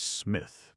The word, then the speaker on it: Psmith: The name is Smith. Pith P. Smith, sir? No. No. P S M I T H.